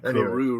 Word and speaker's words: Carew: And and Carew rhymes with Jew, so that was a good name to include.